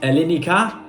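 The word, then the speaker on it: Ελληνικά: So that is Elinika. That's what it literally means. Sorry, that's how it's pronounced, and it means Greek.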